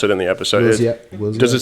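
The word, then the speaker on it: Willzyx: pronounce it in the episode. Wilziak.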